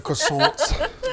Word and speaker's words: croissant: you get it i think the t is supposed to be silent oh okay yeah you have to say with a little accent or it doesn't really